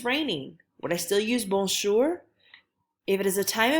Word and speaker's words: bonjour: So our first phrase is bonjour, bonjour. If you remember, this one's really nasal, it's up in your nose.